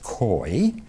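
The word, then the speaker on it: keu: is a stem k-e-u we would spell it k-e-u it's pronounced koi and it is the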